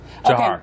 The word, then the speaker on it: Dzhokhar: at least sorry for is it pronounced Johar yes Johar what was what was